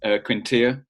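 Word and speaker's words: Quintillà: And it feels like we've got best of both worlds, actually, because Quintilla feels like he's the more defensive minded.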